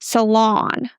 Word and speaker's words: salon: And we stress the second syllable, salon.